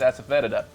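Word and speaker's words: asafoetida: And then once we get to that point, we'll add the sugar, the salt, and the aspheta. I looked up the pronunciation. It's aspheta.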